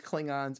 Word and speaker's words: Klingon: Klingon is actually how Roddenberry wanted it pronounced. People kept saying, elongating the A and saying Klingons, and that just stuck after a while.